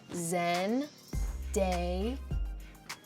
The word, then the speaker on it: Zendaya: It's very phonetic and a lot more boring than I bet you thought it was. So that's how you spell my name. That's how you say my name. Very easy. Again one more time.